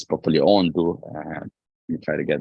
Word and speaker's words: Ondo: I'm saying Ekiti and the Sunshine State, which is Ondo, or let me pronounce it properly, Ondo.